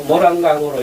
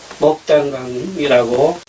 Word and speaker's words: 목단강: 때문에 원래의 뜻을 존중한다 하면은 이 한자도 모란강으로 읽어서는 안 되고 먹단강이라고 본래의 발음대로 읽어줘야 된다는 것이 제 생각입니다.